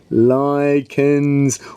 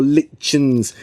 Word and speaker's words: lichens: called lichen or lichens lichens or lichens both of those pronunciations are correct yeah these lichens and